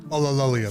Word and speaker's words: Ulillillia: Ulillillia, there you First go. glance, it seems That's how you rather pronounce on it.